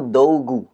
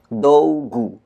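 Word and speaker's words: 道具: pakai kanjiici Mas ya dengan cara baca ongyominya yaitu dougu dogu dogu itu artinya alat-alat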